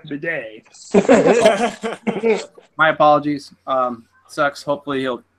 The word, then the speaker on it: Badet: Remember, Stacken, you pronounce it with the foreign apostrophe. That's Jeff Bidet.